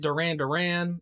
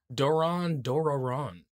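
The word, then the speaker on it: Doron Dororon: doraron on monday and that is the correct pronunciation you know like um dave was calling it duran duran i was calling it doraron it is actually doran doraron yeah well either way it's gongagon cause it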